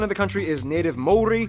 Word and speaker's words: Māori: Native Māori, 7% Pacific Islander, and the rest are mostly Asian of various countries like China, Korea, and Japan. Yes, by the way, it's pronounced Māori, not Maori, Maori.